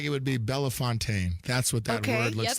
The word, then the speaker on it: Bellefontaine: And the moment that you say Bellefontaine, they know that you're not from there. And I said that. Yeah, Bell Fountain.